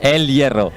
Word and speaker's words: El Hierro: I like how you say El Hierro. Is it not how you say it? Caramba. It's El Hierro.